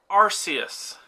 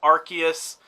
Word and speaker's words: Arceus: reasoning for that first we have Arceus okay that's the way that it was originally supposed to be pronounced apparently and they've changed it to Arceus because ours is a bad word Arceus I don't foresee